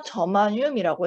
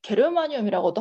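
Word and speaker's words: 저마늄: 자, 규소나 저마뇽이라고 했어요. 뭐 이제 게르마늄이라고도 하는데 이제 저마뇽이라고 읽죠, 보통.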